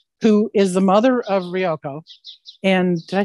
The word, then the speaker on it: Ryoko: Because how, if you're going to voice somebody who's an otherworldly 5,000-year-old scientific genius who is the mother of Ryoko.